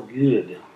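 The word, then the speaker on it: Goode: which is a virtual good yeah it's a weird way to pronounce good but uh in 2005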